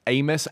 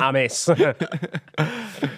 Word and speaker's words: Amys: Amos, AMYS. That's how you spell it. Not Amis.